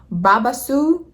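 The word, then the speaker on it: Babassu: Please forgive me if I do, but it's called Babasus. Babasus? Let me look it up. How do you pronounce this?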